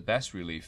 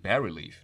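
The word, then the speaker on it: bas-relief: bass relief face mounted or is it bar relief no it's bar relief sorry it's B it's pronounced I think bar relief face so bar relaf face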